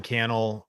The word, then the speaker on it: Cannell: If we're just meeting, my name is Sean Cannell, rhymes with YouTube channel.